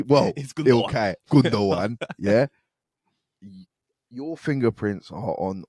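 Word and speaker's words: Gündoğan: you want to say it correctly well okay gundo one yeah your fingerprints are on all four goals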